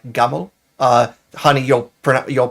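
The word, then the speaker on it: جمل: Uh though I believe the modern pronunciation is more like gaml. Uh honey, you'll you'll pronounce it much better than I will. Yeah. Uh jaml in classical Arabic in Egyptian in in in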